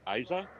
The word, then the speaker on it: Isa: Looks like we have a pronunciation correction. It's Isa, and she's very excited.